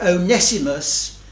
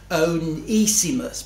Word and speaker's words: Onesimus: We've got Onesimus, and those who have done Greek will tell me that, in fact, it should be pronounced Onesimus, but I shall continue with Onesimus, as I think that's more familiar to our ears.